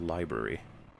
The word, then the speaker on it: LBRY: Also, all of you should mirror your content on LBRY pronounced library.